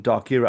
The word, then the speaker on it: Darkyra: Oh thanks Gina for coming on from darker. Am I say am I pronouncing it right? Darker is am I pronouncing it correctly? Perfect.